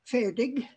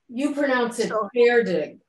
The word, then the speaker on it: Färdig: Or I suppose it would be more like Färdig. Färdig, like fair. As if it were F-A-I-R, because that's closer to the Swedish pronunciation.